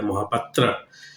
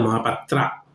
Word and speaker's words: महापात्र: में जा रहा है महापात्र, उसको बोलते हैं महापात्रा। महापात्रा नहीं होता है, उसका जो जेन्युइन प्रोनाउंसिएशन है वो है महापात्र। आ नहीं आ है, वैसे